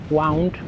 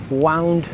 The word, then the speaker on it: wound: I think wound. So, yeah, I don't remember now the phrase the full phrase, but yeah, I think it's pronounced wound, which is the past tense of wind.